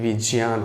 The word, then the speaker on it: विज्ञान: नीचे हो जाता है लेकिन उसका उच्चारण ज्ञ ना करके जि करा जाता है जि ही सही है अगर हम विज्ञान बोल रहे हैं सर तो बोल चल के भाषा में बोल रहे हैं उसका रियल उच्चारण विज्ञान होगा ज्ञान अंग्रेजी की